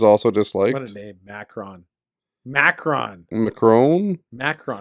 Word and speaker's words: Macron: Macron. I don't think it's I think it's pronounced Macron.